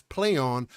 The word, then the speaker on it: Plaion: such as warhorse has rebranded itself as play on pronounced as in a press release